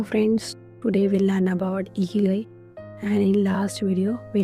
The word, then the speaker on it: Ikigai: where I is in Ikigai. Then to pronounce the word properly, you say Ikigai with a smile.